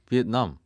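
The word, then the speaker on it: Việt Nam: 비엔남. 역시 발음을 정확하게 하시네요. 네, 우리나라 말로는 베트남. 그것도 짚어드리면 전 세계적으로 비엔남을 베트남으로 발음하는 나라가 우리나라랑 일본밖에 없거든요.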